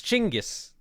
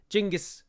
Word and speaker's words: Genghis: famous son in mongolian his name is chingus with some minor accents so obviously that's a poor pronunciation of it but generally speaking a westerner would say jingas khan which is not difficult to say why don't we call